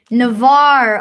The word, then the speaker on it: Navarre: How to pronounce Navarre. Navarre.